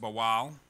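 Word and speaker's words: בעל: marriage in the hebrew is bowel b-a-w-a-l it's pronounced bowal and it means to marry as well as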